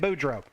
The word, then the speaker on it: Boudreaux: That's how you say it, Boudreaux.